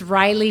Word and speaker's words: Raili: get it right so it's it's Riley CA like California design which um yeah